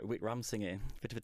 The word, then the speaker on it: Wickramasinghe: Now, I'm glad you're going to say his name, because I've got it written phonetically in front of me. And it's Professor Chandra Professor Chandra Wickramasinghe, a difficult one to say.